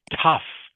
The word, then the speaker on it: tough: Okay, so the word is pronounced tough. Tough.